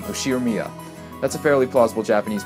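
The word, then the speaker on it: 右代宮: The first part is my family name, Ushiro-miya. That's a fairly plausible Japanese pronunciation so far.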